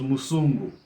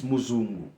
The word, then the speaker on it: muzungu: two different tribes, so in my father's tongue, it was Musungu. In my mother's tongue, it's Muzungu. See that? So three different, but it's the same word, but three different pronunciations.